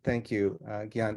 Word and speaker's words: Gion: Thank you so much, Gion. And I apologize for soft Gene your name. I always want to soft G your name. Thank you, Gion.